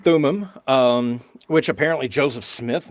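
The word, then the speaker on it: Thummim: was saying telling them can you tell us about the urim and the thumin is that am i pronouncing those two terms right yeah urum and thumim um which apparently joseph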